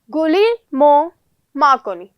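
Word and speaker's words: Guglielmo Marconi: मार कोनी ठीक है आपको इसको ऐसे प्रोनाउंस करना है यह जो जी है यह साइलेंट रहेगा गली मो मा कोनी इट इ नॉट मींस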